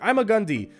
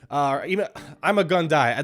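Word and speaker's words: Ima-Gun Di: I learned that it's called I'm a Gundy because the creators for the TV show, they purposely made his name to reflect his fate, which was I'm gonna die.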